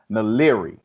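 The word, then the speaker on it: DeGruy: her last name is naleri and now it doesn't look like that but that's how it's pronounced um the the title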